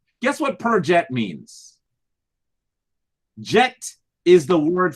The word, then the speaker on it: perjet: We call them the perjet. Perjet. You could spell perjet if you'd like. You could spell it P-E-R, second word, D-J-E-T.